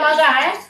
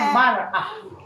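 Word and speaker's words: مرأة: Mir'ah dengan mar'ah. Baris bawah dengan baris atas.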